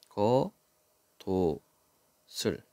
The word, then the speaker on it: 겉옷을: 순서대로 써 보는 겁니다 그다음에 뒤로 넘기고 그다음에 시옷 넘기면 되죠음 거 도슬 예 이렇게 발음하면 된다 잔뜩 더러워진 겉옷을 보니